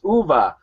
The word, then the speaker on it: Uwe: don't say ooh. He told me, he said, I already got enough problems with sheep, so don't call me Uwe. Uwe. It's Uwe.